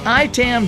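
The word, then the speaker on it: IAITAM: our sponsor today is ITAM dot-org now that's pronounced I Tam dot org but it's spelled IAI EA m dot org this is the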